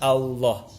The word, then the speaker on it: Allah: Nah, jadi bukan Allah, tapi Allah, Allah, huwallahu, bukan huwallah, huwallah.